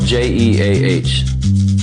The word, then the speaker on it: Jeah: It's spelled J-E-A-H. If you say it like how it's spelled, it's Jeah, but that's boring. No one wants to hear that. So you have to really put that emphasis on that J.